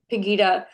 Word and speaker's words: Pegida: There's also an organization called Pegida. Am I pronouncing that correctly? Pegida.